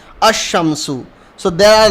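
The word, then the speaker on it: الشمس: are known ASU shami so we will not pronounce the L we will directly pronounce these word with alif and the remainings arear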